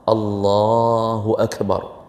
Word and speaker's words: Allahu Akbar: Jadi kalimat lafzul jalalah ini yang panjangnya pada Allah, Allahu Akbar. Kalau kita panjangkan pada Allahu Akbar, langsung batal salat.